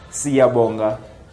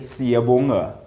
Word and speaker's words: Siyabonga: And the funny thing is, those that had Zulu names made their names sound white. For example, Siyabonga, he'll say Siyabonga.